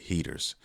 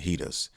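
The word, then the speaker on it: Heeters: and they go by heaters some people call them hedas uh they're pronounced different ways however you want to pronounce it it's cool you know what i mean whatever sounds better to you but this is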